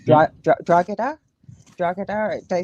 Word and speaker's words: Drogheda: is silent, believe it or not. So it's like a H. It's Drogheda. Drogheda.